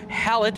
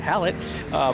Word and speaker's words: Hallett: April is going to be busy with the race at Virginia International Raceway and Hallett, or as my kid likes to call it, Halle Motor Racing Circuit.